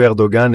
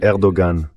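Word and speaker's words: Erdoğan: elle peut être intéressante quand vous prononcez Erdogan. Ce j'ai avec un petit signe au-dessus et tout ce qui reste de l'écriture arabe dans l'alphabet turc latinisé. Il existe en arabe une lettre appelée W qui correspond à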